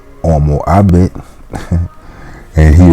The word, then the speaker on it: homo: At semper dico homo habet, but I always say homo habet. And he right too, because the H is a silent letter.